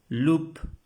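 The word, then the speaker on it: loup: la palabra lobo Loop lup Perdón Lu Lu la p no se pronuncia Lu Lu lobo Lu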